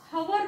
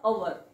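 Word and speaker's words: hour: त्याला डाऊट वाचावं लागतो जसं इथं हवर नाही तर ह च्या ऐवजी आपल्याला इथं वाचावं लागतं ह वाचायचं नसतं इथे वाचावं लागतं अवर सो इथे सुद्धा ऑनेस्ट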